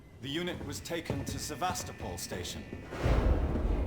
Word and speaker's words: Sevastopol: The unit was taken to Sevastopol station. It's Sevastopol.